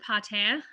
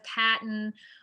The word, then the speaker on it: Patin: grace yes um so my name is patan um i had to say my name again because uh it's like everyone says patent or patent or like something really weird i struggle pronouncing my